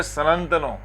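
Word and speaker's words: सनन्तनो: और वह जो पाली भाषा में इसको प्रोनाउंस करते हैं वह है सनंतनों।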